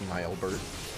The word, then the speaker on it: Nielbert: Oh Nielbert. I'm pretty sure that's two syllables actually. I'm pretty sure it's Nelbert.